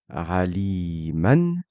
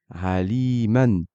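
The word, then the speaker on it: عَلِيمًا: Exemple, dans le mot aliman, je prononce bien ce tanwin-là, aliman, et vous remarquerez que quand je parle, je ne récite pas le alif en plus. Je dis aliman, et je ne dis pas alima ou aliman.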